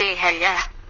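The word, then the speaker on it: אהיה: same size vibrate the Hebrew God name eh eih pronounced a Hey feel the vibration as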